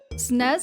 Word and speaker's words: SNES: Okay, SNES is one syllable.